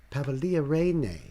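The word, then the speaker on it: Pavolia Reine: Pavia Ree. That's right. Thank you for the pronunciation there, Knight.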